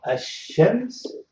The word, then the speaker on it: الشمس: you see here, so الشمس, so I write it in English, الشمس. So you can see this shadda indicates that I'm going to pronounce the sheen twice and ignore the lam, الشمس.